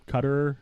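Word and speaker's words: Qatar: So, we have people from India, Cutter. I believe that's the correct pronunciation.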